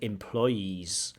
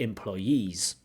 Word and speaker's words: employees: for employees so employees the stress should be on the last syllable and you have too much of a stress on the middle syllable so you're saying employees but it should be employees umh when individuals are